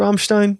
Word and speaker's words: Rammstein: Is that how you pronounce it? Rammstein? Yeah, Rammstein.